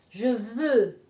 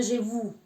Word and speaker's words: je veux: La e y la u juntas se pronuncia un poco como lo que le enseñé, la e así, una u, ¿de acuerdo? Se pronuncia u. Por ejemplo, je veux, yo quiero, je veux, je veux, y no je vous, ¿de acuerdo? Je veux. Eso se pronuncia así, yo quiero, ¿de acuerdo?